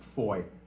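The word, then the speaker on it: Fowey: And and the the foy uh I know it says fou or foe, but it seems to be pronounced foy, near as I can tell for my British friends.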